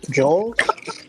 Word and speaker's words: Joles: Joles. Yeah, Joles. That's how they end and in Cape Town in South Africa. That's how they spell my name. That's the Dutch pronunciation of Jules. Joles.